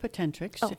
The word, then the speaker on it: POTENTRx: So we pronounce it POTENTRx, your prescription for your full potential.